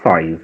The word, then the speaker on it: Sois: Vai se escrever Sois, mas fala Sóis mesmo.